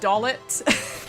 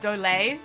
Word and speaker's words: Dollet: It is not actually pronounced Dollet, but I am going to pronounce it Dollet. The Japanese spelling suggests that it's pronounced Dole, like it's meant to be French.